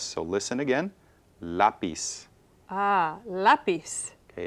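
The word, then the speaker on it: lápiz: stress so listen again lapis ah lapis okay it's not lais it's lais no we want stress in that second to the last syllable okay so again ends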